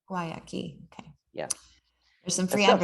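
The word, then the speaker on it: Guayakí: Guayaki. Guayaki.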